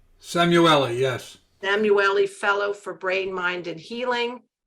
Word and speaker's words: Samueli: He is a senior, is it pronounced Samueli? Samueli, yes.